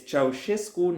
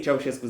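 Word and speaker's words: Ceaușescu: a little aside here, it's Ceausescu, not Ceausescu. I have no idea who spread the Ceausescu pronunciation throughout the English-speaking world, but it is bad. It is wrong. It is phonetically wrong. It's acoustically wrong. It's any way you can think of it, it's wrong. Stop saying it, Ceausescu. His name is Ceausescu.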